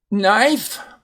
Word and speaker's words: knife: Knife, and again, notice the silent E on the end there.